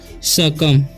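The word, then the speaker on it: succumb: यहाँ पर लिखा हुआ है SUCC और CMB, तो इसे पढ़ते हैं हम सकम। क्या पढ़ते हैं हम? सकम। ठीक है, यहाँ पर बी का उच्चारण नहीं हो रहा है।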